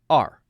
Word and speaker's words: are: Now, A-R-E is the same pronunciation as the letter R.